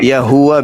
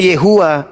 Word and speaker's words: Yahuwa: Yahuwa bisa. Bukan Yehua, Yahuwa.